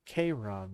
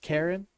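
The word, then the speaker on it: Charon: like yeah because I I thought it was KRON that the the the guy who goes over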